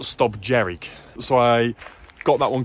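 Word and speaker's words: Stob Dearg: first Monroe that we bagged was not called St dag it's actually pronounced St jerk so I got that one completely wrong so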